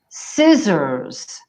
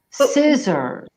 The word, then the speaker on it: scissors: for Italians we say scissors scissors where's the thing what where is the C it's silent I hate silent letters I know but it's all ones people the pronunciation here is scissors yeah absolutely next one